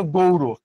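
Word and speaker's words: গৌড়: একত্র করে নাম দিয়েছিল গৌরব সেটা কি সেটা কি এটা একটু বল এরপরে আমি বুঝায় দিচ্ছি গৌরব বলতে কি বোঝানো হয়? একজন গৌর বা গৌর দুইটাই উচ্চারণ করা যায় কোন সমস্যা নেই।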